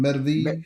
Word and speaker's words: Medvedev: Let's listen to this exchange from Trump, and how do you pronounce his name? Medvedev.